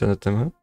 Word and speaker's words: anathema: Okay, you might have mispronounced an A and also a TH. How to improve? Try to bring your tongue to your double teeth, then let the air out slowly your tongue and teeth.